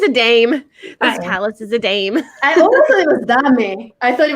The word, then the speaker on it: Dame: how do you say your last name Palace Dame just name okay I didn't know Dom a dame I don't know Dave Koz Dame she's a dame palace is a dame I mean I thought it was something very